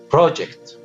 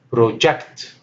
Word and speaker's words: project: The next example, project, but it is project if it is a verb.